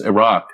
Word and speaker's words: Iraq: the country right and we called it Iraq it's not Iraq it's a rock sounds like that's not